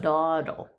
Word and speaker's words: dawdle: Dawdle, like daw. If the caw or raw. If the W was in there, it would be DAWDLE. No, then you need an I after the W. That's a perfectly silent W there.